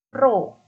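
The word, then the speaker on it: ρ: Jadi massa jenis ini adalah massa persatuan volume, atau bisa kita lambangkan dengan P seperti ini, tapi dibacanya Rho ya. Rho sama dengan massa jenis, itu satuannya kilogram per meter kubik, terus massa itu kilogram, volume itu meter kubik seperti itu.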